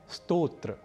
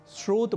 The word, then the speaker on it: स्तोत्र: तो पहला शब्द है स्तोत्र और दूसरा शब्द है स्रोत यहां स्तोत्र को सामान्य रूप से स्रोत बोलना अथवा लिखना अशुद्ध है क्योंकि स्तोत्र और स्रोत